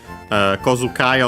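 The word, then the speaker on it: 小遣い: Kozukai on its own is accented actually on the ko, on the first mora.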